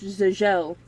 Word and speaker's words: Geezel: Geezel, pronounced Giselle, like the ballet character Giselle, who was captured by the spirits of the dead.